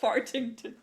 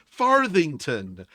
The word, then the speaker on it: Farthington: Um, Farthington is my name. Nobody can seem to pronounce that correctly. I'm sorry. Fartington. Farthington. The kids always say fartington. I hate it. I hate it so much.